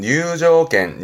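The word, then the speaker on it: 入場券: 발음은 뉴조겐, 뉴조겐.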